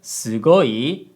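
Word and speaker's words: すごい: if I say sugoi the word sugoi has a low high low pitch pattern but in reality with sugoi the first syllable is actually lower than the third syllable and with gold the pitch Rises but it doesn't matter semantically so we just say low high low for convenience so if you think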